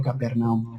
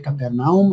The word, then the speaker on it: Capernaum: Y el principal lugar de reunión con sus discípulos, hermanos, pues fue Capernaum. Fue Capernaum o Capernaum. Se pronuncia de las dos formas.